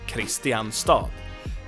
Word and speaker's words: Kristianstad: terms of spelling, because if you pronounce it as it's spelled, you would assume it's KRISTIANSTAD, and that is also the name that makes sense. It's Christian's city, KRISTIANSTAD. But we pronounce this Kristianstad.